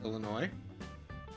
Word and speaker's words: Illinois: We appreciate Illinois, but no S, teaching people how to pronounce Illinois.